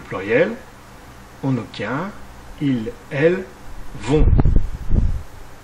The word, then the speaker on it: vont: on obtient il elle vont là aussi le thé à la fin est muet et ne se prononce pas conjuguons le verbe aller